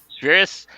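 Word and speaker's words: Spheeris: Of course, the 1983 film Suburbia by what how do you pronounce her last name? Penelope Spheris? Spheris.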